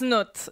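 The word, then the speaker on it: Cnut: While we're still talking about pronunciations here, because you said nut, I say knut. Yeah, no, it's nut is how you say it.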